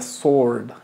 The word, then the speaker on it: sword: iser than the Sword aquí nos Suena la W simplemente es The Sword ahora tenemos the squeaky